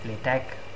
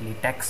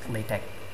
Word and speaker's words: LaTeX: Arabic uh if you don't know how to pronounce that you can call it latch some people call it latex but that would be really wrong because it's it's not latex the rubber it's at best latch anyway it takes in the latex source and